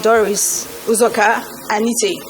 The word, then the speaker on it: Doris Uzoka-Anite: I would like to repeat my name because I know I've heard so many versions of my name. It's Doris, we spelled with one R, Nkiruka, Uzoka, with a hyphen, Anite.